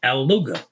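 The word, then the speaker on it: اللغة: If you make it the language, you're gonna say Al-Luga. That first Lam, you're not really pronouncing it. You're pronouncing that second one twice, just like if it was here.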